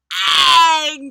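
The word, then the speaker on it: Aang: did not have to put up with terrible pronunciations seriously Shong it's Ang Ang and so so so that shouldn't be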